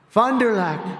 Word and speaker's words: Fond du Lac: They told me that's the way you pronounce it, so I hope I got it right.